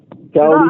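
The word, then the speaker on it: Coty: You say Cody, but your name is spelled C O T Y.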